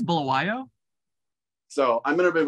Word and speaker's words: Bulawayo: I think it's Bulawayo.